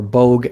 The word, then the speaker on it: Boag: that though yeah yeah Paul boag or bog as I would say it but he pronounces it boag uh in the UK had this podcast and he has called boag world and it was